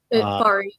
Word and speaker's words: Fari: Fari. Yeah. Oh, is it Fari? F-A? Yeah. Like Safari.